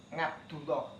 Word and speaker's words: Ngabdullah: Sehingga ada santri namanya Abdullah, sehingga karena dia memakai sastra Gatoloco, akhirnya dipanggil Ngabdullah. Jadi orang Jawa itu kalau panggil Abdullah itu pakai ngab atau astagfirullahaladzim, ya bacanya ngastagfirullahaladzim.